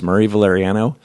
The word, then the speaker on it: Murray Valeriano: I say, my name's pronounced Murray Valeriano.